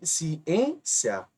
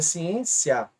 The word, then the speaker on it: ciência: ó ciência Observe aqui ciência aqui levou assento e é uma paroxítona porque a penúltima é a sílaba mais forte mas alguns de vocês